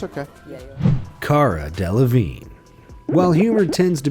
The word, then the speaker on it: Cara: Of course, things didn't begin on the best note when one of the hosts began the interview by getting CARA's name wrong. Carla Delevingne is in the movie.